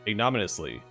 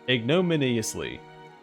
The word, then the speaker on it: ignominiously: His performance ended his budding career in magic almost ignominiously. It's ignominious. Jeez, there's another syllable there. Ignominiously.